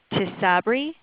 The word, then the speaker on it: Tysabri: This person's father was taking, and I'm sorry if I pronounce this incorrectly, but Tysabri, Tysabri.